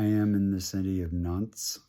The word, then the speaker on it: Nantes: in the city of nunts France that is spelled n-a-n-t-e-s you ignore the E basically um it is